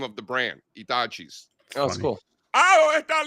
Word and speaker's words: Hitachi: You know, like you hear the grandmothers yelling, looking for the Hitachi. And then, you know, remember in Spanish, you don't pronounce the H. So it's Hitachi.